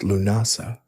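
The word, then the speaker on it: Lughnasadh: Lugnasad, pronounced Lunasa, was the Celtic festival honoring lug, god of light, crafts, and war.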